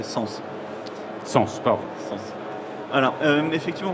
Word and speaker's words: S3NS: Tout à fait, et peut-être juste avant ça, signaler que l'entreprise s'appelle effectivement S3NS, mais on a tendance à le prononcer Sens.